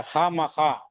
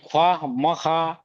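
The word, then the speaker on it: خواہ مخواہ: लेकिन पछता है खासन तो वाव जो है यहां साइलेंट है खा मखा ये ख्वा म खा म ख्वा नहीं होता है खा मखा होता है चाय ना चाय जिसको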